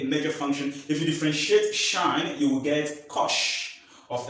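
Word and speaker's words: sinh: Now, the first one we consider here is uh y equal to It's pronounced shine.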